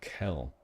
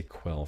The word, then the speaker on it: Quel'Dorei: I always pronounce it Kel. I guess that sounds too similar to Kaldorei, the Night Elves. So I'll try and say Quell from now on, despite it not sounding quite right to me.